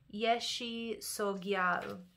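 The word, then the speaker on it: Yeshe Tsogyal: So the pronunciation of this is Yeshi Sogyal, okay?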